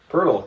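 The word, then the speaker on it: Poeltl: Pirtle. Oh, is that how you pronounce it?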